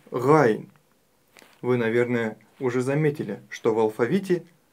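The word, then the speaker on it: غين: Буква Айн – мягкая горловая буква. А буква Гайн – твердая горловая. И при ее произношении мы чувствуем характерный хрип. Х, Гайн, Гайн. А у буквы Айн она отсутствует.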